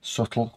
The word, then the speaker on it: subtle: Very subtle with a silent B.